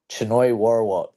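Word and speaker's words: Chainoi Worawut: How do you pronounce his name? Choi Warawat.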